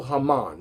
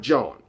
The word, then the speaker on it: Germán: Let me say it right. Domingo Germán, not John.